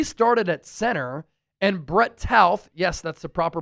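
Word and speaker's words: Toth: He started at center, and Brett Tauth, yes, that's the proper pronunciation, we've been saying it wrong this whole time, started at left guard.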